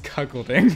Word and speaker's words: cuckolding: For the record, we do know that it is cuckolding.